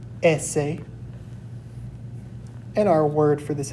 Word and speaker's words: ese: Next up, we have S, which is pronounced ese, ese, And our word for this is going to be el sol, which is the sun.